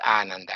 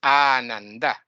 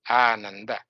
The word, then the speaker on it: Ananda: In really, it's not Ananda, it's Ananda. This is the right pronunciation, Ananda.